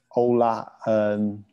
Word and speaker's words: Euler: And so the question is it about open Euler? Is that how you say it? Open Euler. Mm-hmm. How do you say it? Say it again. I'll get it right. Ola.